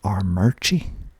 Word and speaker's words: Armuchee: I'm not really sure how you're supposed to pronounce this next one, but Armurchie, Armurchie, Armuchee, and I'm told the locals pronounce it Armurchie.